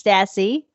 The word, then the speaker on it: Stassy: So I went with Sassy Stassy and that's Max Stassy. That's how I remember how to say his last name, right?